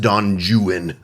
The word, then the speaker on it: Don Juan: novels there's Lord Byron wrote a book it's Don Juan but you it's pronounced Don jwan in British English which is a verse novel